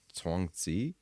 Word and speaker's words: Chuang Tzu: And he brings up, I think the official pronunciation is Chuang Tzu. I think that's what it is, but I'm not 100% sure.